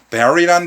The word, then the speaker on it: bury: 여러분들이 많이 쉽게 볼 수 있는 동의어로는 bury라는 단어가 있죠. bury. 그렇죠. 이건 발음 조심해야 됩니다. beauty가 아닙니다. 애 발음이 나와요. 특이하게. 스펠링은 U인데.